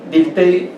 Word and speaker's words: Dilthey: Dilthey, para ustedes, por favor, tomen el apunte, se escribe D-I-L-T-H-E-Y, Dilthey.